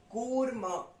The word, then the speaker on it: कूर्मः: वैसे कूर्म, कूर्मः, कूर्मः। बड़ा ऊ है इसलिए हम दीर्घ खींच रहे हैं।